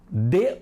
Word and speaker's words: dê: Dê uma fatia de coco para seu irmão provar. O primeiro de com acento é pronunciado forte.